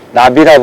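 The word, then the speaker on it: ナビ: 목줄지를 일본에서는 나비라 부릅니다. 나비. 나비가 무슨 뜻이냐? 내비게이션. 내비게이션, 영어로 하면 내비게이션인데 이거를 일본 사람들이 내비게이션을 발음을 못해서 나비게이션 이러거든요. 그래서 나비 이렇게 부릅니다.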